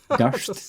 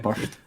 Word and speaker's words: Durst: Durst, not Burst.